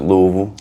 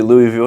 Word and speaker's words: Louisville: People gonna probably butcher me over because they pronounce it Louisville. Louisville? You know? But it's really Louisville, named after King Louis XIV.